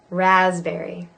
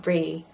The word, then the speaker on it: raspberry: Raspberry. Raspberry. And there's a definite berry. It's not brie.